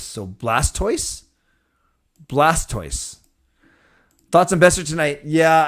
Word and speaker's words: Blastoise: Oh, Blastoise rhymes with voice. So Blastoise? Blastoise.